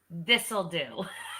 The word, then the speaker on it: Thistle Duh: At Pinehurst, California, called Thistle Duh. Really? For real, that's the name. Thistle Duh. Like duh? Like duh? Duh. And pronounced as this'll do.